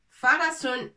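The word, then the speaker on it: فَرَسٌ: Farasun. Par exemple, fa, on a déjà vu la lettre fa. Fa. Avec fatha, ça se prononce fa.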